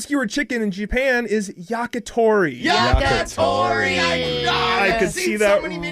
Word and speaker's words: yakitori: all the syllables in different orders. No. Grilled skewered chicken in Japan is yakitori.